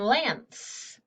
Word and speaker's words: lance: syllable there and then lance well that's closed in two the a is short and the e is silent it's just there to